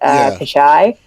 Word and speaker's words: Pichai: Pichai.